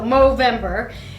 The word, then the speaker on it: Movember: are you pronouncing No Movember with an M? Because the charity is called Movember with an M. The rest is November, right? So Movember and this is the